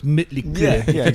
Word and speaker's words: Mötley Crüe: It's like Mötley Crüe. Yeah. It's not really not Motley Crue. It's Mötley Crüe. Yeah, if you pronounce it the correct way.